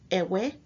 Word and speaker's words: Eʋe: have the phonetic VA which is a cross between a w and a V and so you have h v h which then gives us the pronunciations ewe e-w-e -v-e or Eve which are all ways